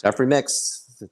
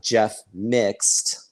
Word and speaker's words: Jeffreymixed: Or it's not Jeff Mixed.